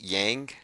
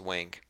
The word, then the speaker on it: Yang: presidency and then over here someone says it's pronounced yang okay might be a Mandela effect I thought it was wink but anyway another guy lines up and he